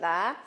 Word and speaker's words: ye: Anytime you see a Y and an E, it's a thorn and we pronounce it the.